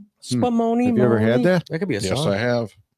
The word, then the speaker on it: Spumoni: Spumoni. Spumoni.